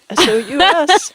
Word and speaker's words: sous: S-O-U-S. Sous. Like masseuse.